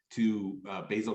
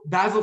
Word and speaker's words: Basil: Basil Fawlty, or Basil, I don't know how you pronounce Basil, it. he's British, Basil. so Basil. All right. Yeah. I mean, you're talking about pasta sauce, so basil fits there, but yeah, it's Basil.